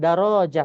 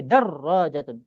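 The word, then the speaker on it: دراجة: Jabatan Paked darajatun bukan darajah tapi darrojatun artinya sepeda ya.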